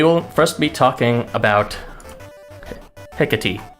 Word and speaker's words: Hekate: So we will first be talking about Hekate. That is how you pronounce her name, I'm pretty sure. I looked it up.